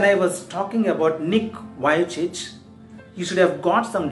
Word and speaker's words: Vujicic: It spells V-U-J-I-C-I-C. Then why does he pronounce as Vujicic? What is Vujicic? There is no connection between. Yes, there is a right pronunciation, Vujicic. It's not Vujicic, Vujicic.